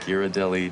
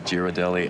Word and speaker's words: Ghirardelli: found out before embarrassing myself between us I pronounced Kearney Street Tierney when I first got here thank you and Ghirardelli Ghiradelli and blasphemy of blasphemies I called cable cars